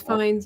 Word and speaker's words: Fiennes: it's Fiennes. Okay, I wasn't sure if it was Phineas.